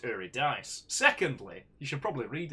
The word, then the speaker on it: Eurydice: what to say i i uh firstly it's pronounced uridis secondly you should probably read it take all